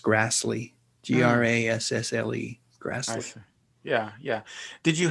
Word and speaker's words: Grassle: Back then, I would have said Grassle, but I think it was actually pronounced Grassley, Grassle.